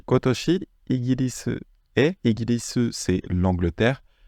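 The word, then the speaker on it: 今年: donne cette année et ça se prononce attention pas nen ici ça va se prononcer Toshi donc c'est kotoshi kotoshi kotoshi igilis et igilis c'est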